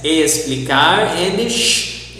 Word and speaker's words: explicar: Also we have the Z, exemplo, the S, explicar, and the sh, enxergar. So the letter X can be pronounced as sh, S, Z, or x.